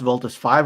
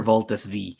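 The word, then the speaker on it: Voltes V: I actually asked Ken earlier, do we pronounce Voltus 5 or Voltus V? Voltus and he says 5. Everyone calls it V. Everyone Voltus, says Voltus V.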